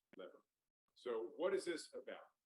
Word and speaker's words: LVR: And this work is about something we call loss-versus-rebalancing, so LVR, pronounced lever.